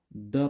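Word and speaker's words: the: तो जब कभी भी कॉन्सोनेंट स्टार्टिंग नाउन आएगा, ठीक है, कॉन्सोनेंट स्टार्टिंग नाउन आएगा और उससे पहले अगर द आता है तो उसको हम लोग द प्रोनाउंस करेंगे, ठीक है।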